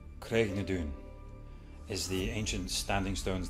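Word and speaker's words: Craigh na Dun: Today's word is Craignadoun. Craignadoun is the ancient standing stones that Clare passes through to come back to 1700s. Say it with me. Craignadoun.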